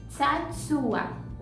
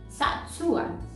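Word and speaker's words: צעצוע: Então, é só você pronunciar de forma mais lenta. Sa, su, a. Satsua.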